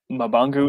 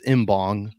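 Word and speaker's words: Mbongue: We're gonna go with what was it, Mbangwe? Is that how they said it in the stadium? Mabangu is the official SAFC pronunciation. Is it Mabangu? Sure. And on Toronto FC 2's media guide, it's Mbong.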